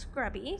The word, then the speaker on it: XSCRUBBY: It's XSCRUBBY. It looks like X Scrubby, but it's pronounced Scrubby.